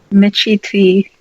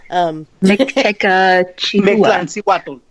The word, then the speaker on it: Mictlancihuatl: Cindy, can you pronounce that? Michiti. No, that's a kind of long word. Yeah, it is. Mictlancihuatl.